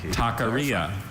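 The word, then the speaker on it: taqueria: Good thing he asked him to pronounce it again. Takaria.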